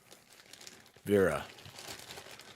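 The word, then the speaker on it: Wera: I'm looking at that's how bad I am Vera it's spelled w-e-r-a like they're bits they're made in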